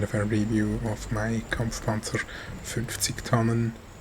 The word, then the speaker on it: Kampfpanzer 50 Tonnen: back with a replay and kind of a review of my Kampfpanzer 50 Tonnen. That's how you say it in German, or the Kampfpanzer 50T